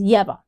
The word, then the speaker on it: Yeva: He says Yeva. He gets it right.